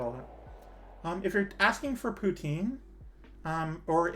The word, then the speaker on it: poutine: If you're asking for poutine, or if you're from the snobbish Quebec part of the country, poutine. They don't pronounce it with the E at the end.